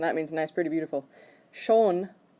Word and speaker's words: schon: Schon, like the sun shone outside, that pronunciation, that means already.